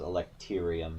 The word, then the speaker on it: electrium: That's because this is electrium, not electrum. I know people are going to mispronounce that already, just to bug me.